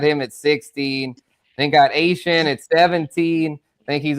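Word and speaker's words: Etienne: The new pronunciation, yes, not Devon A-Chain. This is Travis Asian. ATN. Yeah, or ATN for those. I put it on the ticker. I know. ATN at 17. Yeah, for sure. Asian. Yes, the Cajun pronunciation, the Cajun French way.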